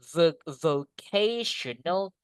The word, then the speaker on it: vocational: Nah, kalau SMK secara umum British or American, they say vocational high. Vocational. Bacanya gini guys. Look at this. Huruf itu sampingnya nih. K gitu. Tional.